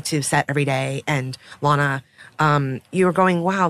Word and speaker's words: Lana: So Lana Condor, did I pronounce that right? It's Lana. Lana.